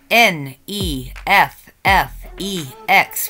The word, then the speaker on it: NEFFEX: it's play dead by n e f f e x which I'm going to pronounce is neffex if you know them